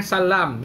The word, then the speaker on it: Sallam: contohnya anak cool salam semua yang tulisannya salam dibacanya Sallam tercit kecualikan Dari itu